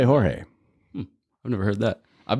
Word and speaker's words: Jorge: So, George, your name is spelled Jorge, which to some folks around here, not myself, but Troy believed it was Jorge.